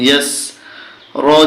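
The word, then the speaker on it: يَسْرِ: ইয়া জবর সিনে জজম ইয়াস, র জের রি, ইয়াসরি, কিন্তু উচ্চারণ হবে ইয়াসর, ওয়াল্লাইলি ইযা ইয়াসর।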